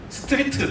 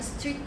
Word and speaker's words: 스트릿: 저도 캐나다에 워킹 홀리데이를 갔었고 스트릿 댄스도 좀 배워보긴 했는데 발음에 좀 주의하셔야 될 것 같아요. 스트리트 댄스인 거죠? 아니, 스트릿 댄스. 스트릿.